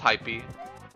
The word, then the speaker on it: Haipeee: How do I pronounce my name? It's hypy, but it really don't matter too much.